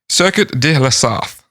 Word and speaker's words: Circuit de la Sarthe: Circuit de la Sarthe. Good job. That's the first time you've nailed a pronunciation in French.